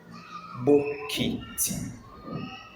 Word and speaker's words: bokiti: Bokiti. And it is spelled as O K I T E Bokiti.